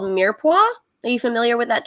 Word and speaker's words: mirepoix: Is carrots are part of a French kind of preparation called mirepoix. Are you familiar with that term, mirepoix? I will spell it in the chat.